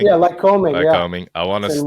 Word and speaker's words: Lycoming: So I know you talked about coaching at how do you pronounce it? Lycoming? Yeah, Lycoming.